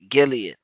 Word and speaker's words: Gilead: I just heard that word Galia how you pronounce This I just I just listened to it too. Gilead.